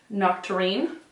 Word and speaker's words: Nocturne: how to pronounce it Nocturne not terrine it's like a really